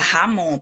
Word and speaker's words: jamón: Se escreve jamón, mas se fala jamón porque es con la J.